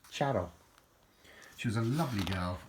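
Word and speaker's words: Txaro: world I used to know a girl called Charo and her name is spelled t-x-a-r-o and it's pronounced shadow she was a lovely girl and and a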